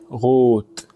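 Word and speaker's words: rot: ايه الكلام ده يعني لو جت في اول الكلام انطقها غين خفيفه قوي زي كلمه غوت غوت يعني احمر ولو جت في اخر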